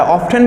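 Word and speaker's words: often: इसके अलावा और अगला नेक्स्ट में आएगा हाउ ऑफ्टन या हाउ ऑफन, देखो ऑफ्टन का प्रोनाउंसिएशन दोनों होता है, ऑफ्टन भी होता है और ऑफन भी होता है।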